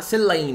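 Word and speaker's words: Celaena: começa esse livro com Selena contratada seleen né Eu adoro falar Selena porque é mais fácil mas dizer seleen para quem tava com saudade da minha pronúncia seleen foi contratada né como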